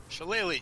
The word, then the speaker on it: shillelagh: using the ash you like how would you pronounce it she she then you do shillelagh just pretend you're an Irishman with a club